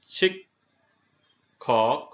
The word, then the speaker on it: শিক্ষক: শব্দের মধ্যে ক্ষীয় বসলে ক হস খ হবে, যেমন শিক্ষক, এখানে ক্ষীয় মধ্যে ছিল এজন্য হয়েছে শিক্ষক।